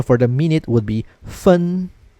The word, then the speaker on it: 分: Okay, and the pronunciation for the minute would be 分, 分, 分.